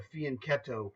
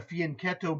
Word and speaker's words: fianchetto: spoke four languages fluently fianchetto is how you spell it if you use the rules of English but it's not English it's Italian and so it's spelled c h t o it's cetto in English but in Italian rules of of speech it's ketto so this is the